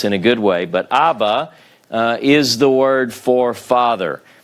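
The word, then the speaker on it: אבא: vowel, which it is, you have A, and then you have the bait with the Dagesh, Ba. It indicates a doubling, if you will, of this particular consonant.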